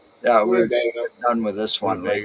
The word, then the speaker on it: Winnebago: Winnebago monster? Was out at Oberk Park. Or is that Now, Yeah, pronounced Winnebago? yeah, we're Winnebago.